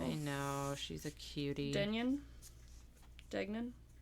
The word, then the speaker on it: Degnan: know she's a cutie denan dgan it's degnan that's what it is okay I didn't write